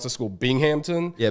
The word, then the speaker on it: Binghamton: benefits um and then uh how do you pronounce the school binghampton yeah binghamton still don't think still don't know where they